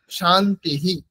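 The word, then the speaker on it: शान्तिः: রামাহা এরকম উচ্চারণ হবে কিন্তু আগে যেহেতু ইকার আছে সেজন্য শান্তিহি এইরকম উচ্চারণ হবে এটা যদি আমরা আলাদা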